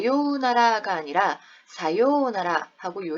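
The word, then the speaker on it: さようなら: 발음한다 자음으로 발음한다 그래서 4 유우 나라가 아니라 사요나라 하고요 를 길게 발음해 주는 장은 이 되었다 자 센세 사요나라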